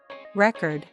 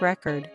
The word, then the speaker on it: record: present the findings tomorrow record noun versus record verb the athlete broke a record please record this meeting contract noun versus contract